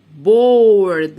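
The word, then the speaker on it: board: مش هنطق الايه، لا مش هنطقها، دي قاعدة بتساعد صاحبتها الاو ان هي تقول اسمها او. بورد.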